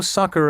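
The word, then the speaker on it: succor: meaning to run to the aid of although sucker and the slang word sucker spelled s-u-c-k-e-r have the same pronunciation they are not related and are virtually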